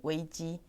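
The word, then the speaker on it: 危机: Sim, em chinês se pronuncia em weiji.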